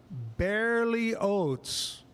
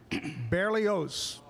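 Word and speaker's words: Berlioz: And it's pronounced Barely Oats. The last name is almost like oatsely, but it has a Z. Barely Oats. Barely Oats. So anyway, Aiden Barely Oats gonna be on tomorrow on the show playing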